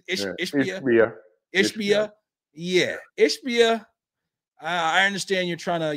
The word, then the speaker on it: Ishbia: how do you say is is ishia yeah ishbia I understand you're trying to you know have